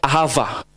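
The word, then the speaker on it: אהבה: Jadi kalau bahasa Hebrew bacanya ahava.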